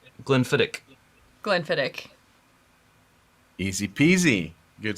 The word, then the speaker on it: Glenfiddich: all right that is the CH on the end is actually um if you know if somebody was being you know Petty or they would say Glenfiddich so it's a soft can it fit a little like if you were if you were to see lock but what happens if